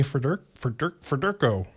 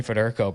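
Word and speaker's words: Federko: But yeah, it's uh number 24 Bernie Fur Fed forko. I can't say his name. Bernie Federco, bro.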